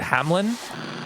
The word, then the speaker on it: Hameln: Hameln at the end of the tapes, but they pronounce it Hamlin, and then later on in subtitles they spell it Hamlin. It turns out that Hameln is the spelling in German, the original Pied Piper German, I think, and whereas the British spelling is Hamlin, but I'm pretty sure it's pronounced Hamlin, so I think they are correct there.